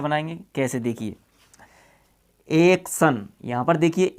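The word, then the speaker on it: action: Okay, अब देखो टी के बाद में अपना आई और ओ आ गया तो अपना टी, आई, ओ तीनों से मिलकर के बनेगा से, और एन से ने, इसको पढ़ते हैं एक्शन। यानी कहीं पर भी टी के बाद में अगर आई और ओ मिलता है तो फिर अपन को से बनाना पड़ेगा।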